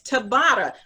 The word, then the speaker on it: Tabata: It's Tabata. It's spelled T-A-B-A-T-A.